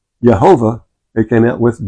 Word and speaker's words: Jehovah: J is pronounced different a J is pronounced like a Y in German.